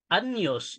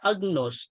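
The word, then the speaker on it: Agnus: For example yung ah imbes na anyos yung iba magbasa agnos.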